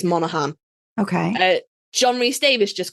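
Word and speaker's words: Monaghan: we got Elijah Wood Dominic monogan and that's not how you pronounce that I think it's Monahan okay John re Davis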